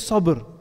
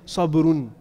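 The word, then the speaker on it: صبر: That un there is not like actually part of the word. It's just to show indefiniteness. So the word, when it's spelled out, it just says sabr. If you want to say that word fully, you'll say sabrun.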